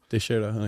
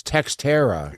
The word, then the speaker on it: Teixeira: But it's Teixeira.